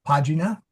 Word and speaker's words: pagina: So, pagina soft G in the same line.